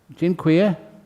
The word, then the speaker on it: Dziękuję: Dziękuję. Do you hear that? Did I pronounce it okay? Dziękuję?